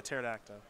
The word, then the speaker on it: pterodactyl: that's out spelled though the P silent yeah yeah pterodactyl I I'm getting reaiiy